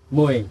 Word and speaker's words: Moi: Bacanya gimana sih? Moi. Moi. Moi. Artinya apa tuh? This means beautiful. Beautiful. Dutch word. Bahasa mana tuh? Belanda. Belanda, Dutch word.